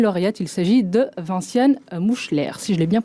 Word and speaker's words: Moeschler: Le lauréat est une lauréate, il s'agit de Vinciane Mouchler, si je l'ai bien prononcé en tout cas.